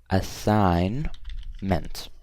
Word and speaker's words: assignment: for you guys but assignment has a silent G so I'm gonna say a sign meant okay this one's correct